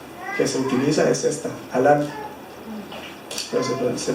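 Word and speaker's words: הלל: De hecho, en la etimología de la palabra alabanza, la palabra raíz que se utiliza es esta, halal, pero se pronuncia halal.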